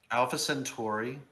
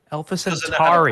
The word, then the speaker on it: Alpha Centauri: Alpha Centuri. Alpha Centauri.